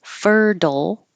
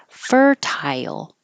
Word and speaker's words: fertile: It can be fertile, or fertile. And that's more British pronunciation.